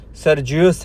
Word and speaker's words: سرجیوس: جرجیس یا سرجیس تھا۔ Encyclopedia of Islam volume 1 مطبوعہ 1979 laden 1922 کے مطابق اس کا نام کا تلفظ سرجیوس ہے۔ بحیرہ اناجیل اربعہ کا